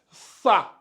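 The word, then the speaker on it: ثاء: va l'appeler le ça vous mordez bien le la langue je je vais écrire ça vous allez voir euh c'est un peu comme si on allait écrire comme ça c'est comme si je j'écrivais ça comme ça mais le T Ici vous mettez la langue entre les dents comme ça et vous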